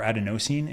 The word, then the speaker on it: adenosine: about a lot is adenosine or adenosine if you're of our British colleagues which I was listening to a book and they pronounce it that way and it blew my